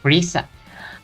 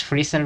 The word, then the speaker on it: Frieza: Here in the US, his name is pronounced Frieza. I forgot that that was his name. No, I'm going to use Friezer because that's how we call him here.